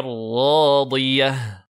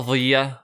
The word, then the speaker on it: راضية: Donc, fahuwa fi ishatir radiyah. Radiyah. Di. Et pas dhiya. Attention, le dad, faut pas le transformer en dha.